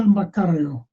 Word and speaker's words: Maccario: pins and i'm here with a guest mccarrio i pronounced it right you did okay we had